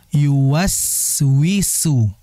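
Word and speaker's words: يوسوس: Kemudian yuwaswisu, jadi kayak sad, yang betul yuwaswisu, ya.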